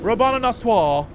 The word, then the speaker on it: Rabanastre: Rabanastre.